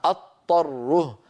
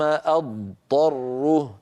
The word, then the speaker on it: اضطره: ارجو ان تلاحظوا الفرق ان قلنا اضطره اكون قد نطقت طاء مشدده وهذا خطا لا بد من انطقاضا ثم بعد ذلك انتقل الى الطائف فاقول ثم ثم ثم اضطره اسمعوني جيدا همزه مفتوحه بعدها ضاد ثم بعد ان انهي بعد ان انهي صوت الضاد انطق طاء فاقول اضطره اضطره اضطره